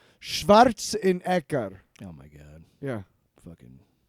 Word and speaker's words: Schwarzenegger: Yeah, I love being such a fan of not only the book but also the Running Man featuring Arnold Schwarzenegger is how you pronounce it in German. Schwarzenegger.